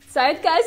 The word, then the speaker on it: zeitgeist: again zeitgeist i mean it doesn't even sound english zeitgeist is german it means spirit of